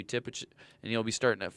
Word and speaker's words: Tippich: After that on stage two we have Matthew Tippich which we know Matthew Tippage and he'll be starting at 5:30.